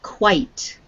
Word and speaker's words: quite: this word quite quite there was no e on the end the word would be quit okay but because there is an e on the end that is silent it makes the i sound long so this is quite quite steering is quite